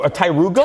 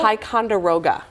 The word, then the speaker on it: Ticonderoga: I might not have pronounced it right. Oh, a Tiruga? Ticonderoga.